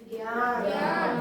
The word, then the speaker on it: ज्ञान: ये अपन उच्चारण गलत करते हैं इसका। जो जैसे आप लिखते हैं, मैं उच्चारण करके बता रहा हूं, सुनो ध्यान से। ये क्या है? ज्ञान। ये ज्ञान नहीं है।